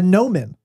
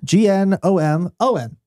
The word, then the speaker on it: gnomon: A sundial contains a gnomon. And I'm going to assume that's how it's spelled. Okay. Nope. Gnomon is not spelled with an N. It doesn't start with an N. G.